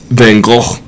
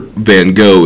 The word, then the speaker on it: Van Gogh: But it's like Van Gogh is the true pronunciation, where Van Gogh is the Americanized pronunciation. I mean, both are accepted in some form or fashion.